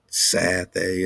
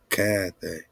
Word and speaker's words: Cathay: This China again, hard K, Kana, Cathay. It's not Sathay, it's Cathay.